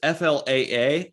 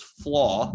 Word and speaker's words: Flaa: right-hand pitcher j flaw it's flaa i looked on baseball reference and apparently it is flaw that's how it's pronounced uh don't know too